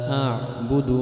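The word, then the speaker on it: أعبد: Nah, kemudian dalam bacaan huruf ain itu banyak yang masih belum pas ainnya itu. La a'budu ma, bukan la a'budu ma, itu seperti bertemu hamzah. A'budu ma, padahal a'budu ma ain.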